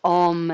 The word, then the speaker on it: om: symbol of yoga so thinking of om as a three syllable sound the a the u and the m bring your hands together